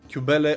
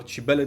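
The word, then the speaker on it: Cybele: greater mother Rehea or Cubellle or Chibella depending on the pronunciation found and purified Dionus, teaching her ecstatic rights.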